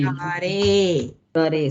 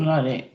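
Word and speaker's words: मुरारे: Murare. Sorry. Murare. The E is pronounced A. Remember that. Don't say E.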